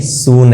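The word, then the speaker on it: soon: सून, ये होगा ना coming सून, get well सून, शून नहीं है, सून है।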